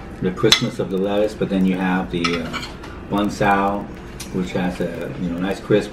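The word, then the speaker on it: Bánh xèo: Banh Xeo.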